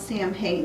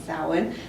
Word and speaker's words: Samhain: also been known as salen which some people pronounce Samhain it's actually spelled s a.m. h8i n but the proper pronunciation is salad it's also called All Hallows Eve it used